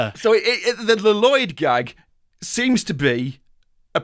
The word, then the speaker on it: Lloyd: her breakup with Lloyd which is a joke which runs throughout this entire episode that he's called Lloyd but they pronounce the two L's and they do bring